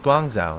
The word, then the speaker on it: Guangzhou: It's Guangzhou. That's what it is. Okay. Right, chat? Chat. Am I pronouncing it correctly?